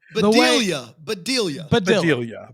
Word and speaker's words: Bedelia: Badilla? Badilla. Bedelia.